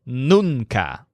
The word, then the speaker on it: nunca: word for never is nunca which stresses the syllable noon he's concluded that noon